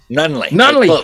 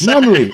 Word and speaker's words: Nunnele: Nunley. Come on, Daniel. I knew it. Very close. Nunley. I said it right the first time.